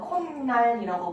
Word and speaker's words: 콧날: 그래서 코랑 날이 더해졌을 때 사회소리 현상이 일어나서 콧날이라고 발음을 하면 되고요.